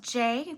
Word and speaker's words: Gi: Her YouTube channel is I think it's pronounced J, but it's spelled G-I and then Kerr, K-E-R-R.